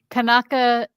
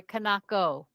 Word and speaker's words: Kanako: Be very afraid of this author I can't pronounce the name of. Kanaka Inuki? Okay, we love that. You're so good. I'm sorry, Kanako, right? Kanako.